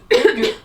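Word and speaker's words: hygge: Et en fait ils vivent, ça se prononce hug hug mais ils disent enfin ça s'écrit mais c'est ça se dit hug et en fait c'est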